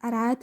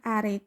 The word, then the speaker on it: Arid: I'm still wondering if I should pronounce his name as Arad or Arid. I kinda pronounce it in both ways since I created him.